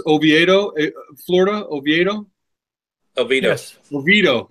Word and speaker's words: Oviedo: institutes yeah I've been there several times that's pronounced Oviedo Florida Oviedo Elena's levite oh yeah no it's